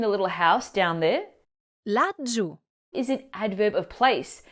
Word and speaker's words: laggiù: Laggiù. Is an adverb of place, meaning down there, formed by combining la for there and giù meaning down. Make sure you pronounce that double G, laggiù.